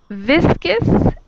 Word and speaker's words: viscous: I think the O, it is silent in first word, but in viscount, it is not silent. Yeah, we have more vowel sounds. So in the first word, that OU makes one vowel sound, viscous.